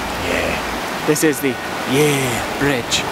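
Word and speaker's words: Yair: yeah this is the yeah Bridge spelled y a i r but I'm assuming the pronunciation is exactly the same as everybody's favorite London yes word isn't that right Andrew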